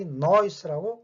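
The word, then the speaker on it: nós: 이걸 크게 벌리고 하기 때문에 특히 noise라고 발음이 들립니다.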